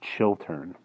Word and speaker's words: Chiltern: Tanakh the Chiltern chalk I keep pronouncing that area wrong it's chill turn round one arm of